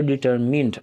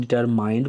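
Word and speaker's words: determine: रखें the chief raw डिटरमिन अक्सर बच्चे इसको गलत प्रोनाउंस करते हैं डिटरमाइंड पढ़ते हैं वो गलत है डिटरमिन का मतलब होता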